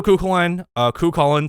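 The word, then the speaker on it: Cú Chulainn: Also, Kukulin, sorry, that's the correct pronunciation.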